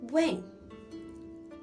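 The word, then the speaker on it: 问: It can be pronounced as when, and it can also be pronounced as when.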